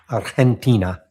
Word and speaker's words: Argentina: Or as we like to say in Spanish, Argentina. Hard to not pronounce that hard G. Or never mind G, just pronouncing it like an H.